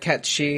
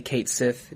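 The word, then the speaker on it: Cait Sith: And I know that Cat Shi is the right way to say it, but I'm still going to say Kate Sith, just because I'm a moron whose brain hasn't quite left 1997.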